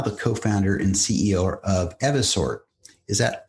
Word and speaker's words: Evisort: You've got quite the career in fintech as a board member and now the co-founder and CEO of Evasort. Is that pronounced correctly? Uh yes. Everort. Evasort just wanted to make sure uh could you